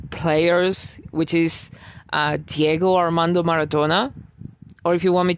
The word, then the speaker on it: Maradona: Because one of our main players, which is Diego Armando Maradona, or if you want me to pronounce it as I pronounce it, Diego Armando Maradona, was one of the best football or soccer,